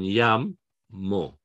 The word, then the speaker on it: llamo: Like llamo, okay? The stress is on llamo.